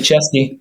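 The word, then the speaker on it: česky: Hesky Chesky. That's how they say it's better in Czech.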